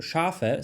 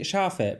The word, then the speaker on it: Schafe: In German, every letter is pronounced. For example, Schafe, so sheep, you would say Schafe, but she says Schaf.